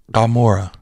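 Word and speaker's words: Gomorrah: city gamor in Hebrew that g is not a a hard G necessarily so that letter is is giml which is a hard G but this is spelled with a letter called an Ain so it's more like Gora right it's like the back of the throat G and this Ain can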